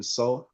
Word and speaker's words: Xoul: Oh, you would just type in Soul, and that is spelled XOUL, and it should be the first profile that pops up.